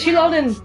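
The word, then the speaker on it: Xilonen: is one of four that she said it shonin chilonin finally shonin is one of the four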